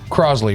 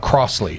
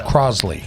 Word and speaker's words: Crossley: Kim you're welcome um Crosley right that's how you pronounce it it's not Crossley it's Crosley like it's a z sound correct and Kim Carson